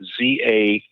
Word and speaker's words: zakat: But in Arabic, they took that same word and they changed it around, and they use the word Z-A-K-A-T. And they call it zakat instead of sakat, which is from the Hebrew.